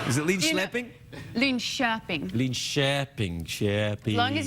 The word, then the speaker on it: Linköping: That's what they teach you, is how to pronounce names. Linköping. I learned a few things in Linköping. Is it Linköping?